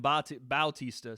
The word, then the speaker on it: Bautista: I'm calling Mario Batista. They're calling him Bautista, so I have no idea if I'm even close to being right on his pronunciation.